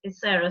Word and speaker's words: Sara: rarely meet people with the, certainly if the spelling is the same, the pronunciation is Sarah.